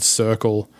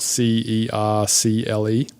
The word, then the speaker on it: Cercle: So for an example, there's this company called Circle, and they have a YouTube channel, and it's spelled Cercle.